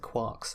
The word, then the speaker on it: quark: a note on pronunciation I'm gonna pronounce it quarks and this is correct because he nicked the name from a famous doorstop and impenetrable self-appointed novel Finnegan's Wake which includes alongside a whole bunch of other stuff the phrase three quarks for muster mark and unless you pronounce mark as Mork you can't pronounce quark as quark or it doesn't run now you might think